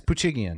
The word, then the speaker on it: Poochigian: Yes, Poochigian.